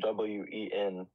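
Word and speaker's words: 文: So for cultural refinement, the word is win. I don't know how it's correctly pronounced. Talking about? I'm sorry, can you do it again? In pinyin, it's spelled W-E-N. So Wen.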